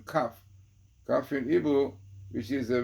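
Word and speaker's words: כף: Since the letter kaf, which pronounces kaf in Hebrew, which is the word of vessel, kaf.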